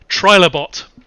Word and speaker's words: Trilobot: bot oh very nice what how do you pronounce that trilobot so it's like try the bite but with